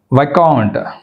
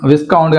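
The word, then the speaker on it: viscount: ఇక్కడ వైకౌంట్, రైట్, ఇక్కడ విస్కౌంట్ అని అనకూడదు, వైకౌంట్, వైకౌంట్, చూడండి వైకౌంట్.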